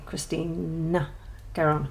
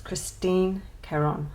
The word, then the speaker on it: Christine Caron: Yeah, and then when I go to say her name, I go to say Christina Caron. It's Christine Caron, Wildflower Folk.